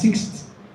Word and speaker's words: sixth: how six sixth great pronouncing it as sixth is correct especially for the fact that you are not a native English speaker so you can pronounce it that way you will understand but a native English speaker will not pronounce it as six never not possible I wasn't